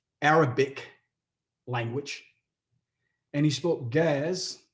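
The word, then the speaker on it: Ge'ez: language and he spoke gaz which is spelled g-e-e-z giz but that was the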